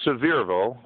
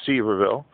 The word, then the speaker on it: Sevierville: This is near Sevierville, some people pronounce it Sevierville, Tennessee, not too far from the resort area, Gatlinburg.